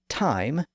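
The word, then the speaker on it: thyme: t sound and that's why the herb called time t h ym is pronounced th and not thy it's ultimately a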